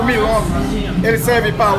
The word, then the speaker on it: milome: Como você pronuncia isso? Esse aqui é milome.